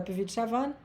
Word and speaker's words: Puvis de Chavannes: Se escreve Puvis de Chavannes, se fala Puvis de Chavannes.